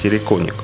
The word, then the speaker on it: террикон: Первоначально слово произносилось как «терриконик », но позже это окончание, принятое за уменьшительный суффикс, исчезло.